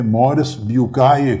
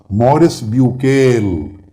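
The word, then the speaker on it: Maurice Bucaille: ان کا نام تھا، فرینچ لینگویج میں مورس بیوکائے کہتے ہیں، مگر انگلش میں میں آسانی کے لیے نام لوں گا مورس بیوکیل۔ انگلش میں اس کا تلفظ بنتا ہے ڈاکٹر مورس بیوکیل۔ یہ ایک فرینچ سرجن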